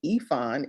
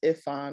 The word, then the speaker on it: Ifon: that connection uh yes my name is ifon is how you spell is how you pronounce it my husband is nigerian so i'm a proud uh a member of the nigerian wives club but everyone says iphone which is fine and even